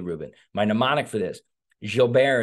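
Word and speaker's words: Gilbert: my nemonic for this jilber is pronounced kind of like ja from lay Miz he was putting people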